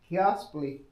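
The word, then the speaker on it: Keoslpy: Okay, this is the assembly of a is spelled K E O S L P Y Kiosley utility truck.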